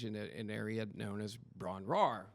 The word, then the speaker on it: Bron-Yr-Aur: known as Ron RAR which I had mispronounced this before we decided to put a name on this I had mispronounced this easily for 30 years until I researched it and it's the why is silent so in my head